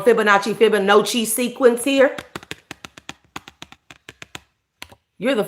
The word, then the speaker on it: Fibonacci: Fibonacci.